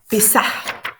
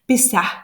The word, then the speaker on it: Pessah: Et donc, Pessah, en hébreu, il faut prononcer le H, Pessah, ça veut dire le passage.